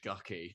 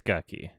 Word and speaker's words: Gucci: has adam driver in it one shot yeah pronouncing the movie title right it's gucky there's people who are like who don't understand